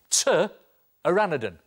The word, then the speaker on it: pteranodon: Now, strangely, when it comes to spelling, pteranodon is spelt with a P. P is for pteranodon. OK, spelling lesson over. Because when it comes to drawing, T is for pteranodon. T-aranodon.